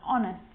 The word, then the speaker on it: honest: And sometimes it's not pronounced at the start of a word, like honest and hour.